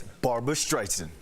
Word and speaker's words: Barbra Streisand: You don't say her name like that. It's Barbra Streisand, like the song.